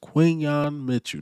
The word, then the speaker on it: Quinyon Mitchell: His name is Quinyon Mitchell, not Quinyon or whatever y'all was saying.